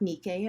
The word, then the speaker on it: Nike: of athenian nike uh nike adjusting her sandal so this is the a temple of athena nike or nikkei as it's pronounced in ancient greek so this is at